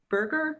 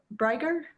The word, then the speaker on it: Breger: Ben Berger, is that his name? Breger? Breger. Okay, I'm pronouncing his name wrong.